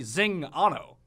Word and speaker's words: Zingano: yeah he should be zingano you gotta really pronounce it ring right you gotta have The Zing in it bit of a Zinger